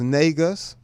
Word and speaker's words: Negus: Negus is pronounced Negus.